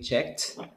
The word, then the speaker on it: checked: link the sounds so the letter t that you produce over here because you say checked so you pronounce it like a t and then you say